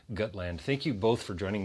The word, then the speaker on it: Gutland: we're here to talk about a film called good land or as the director I think it's going to tell you also compute pronounced gut land thank you both for joining me here today